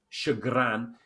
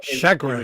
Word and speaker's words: chagrin: Chagrin, as in shag. Yeah. Okay. Well, chagrin is my preferred pronunciation, and I won't hear of correction on that. Chagrin. It's French, isn't it? Anyway. Yeah, chagrin. Yeah, exactly. It is French, and I'm doing it in a French way.